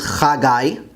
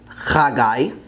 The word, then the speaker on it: חגי: The next book, which some people pronounce as Zephaniah, is actually Tzefania in Hebrew, Tzefania. Haggai is Chagai, Chagai.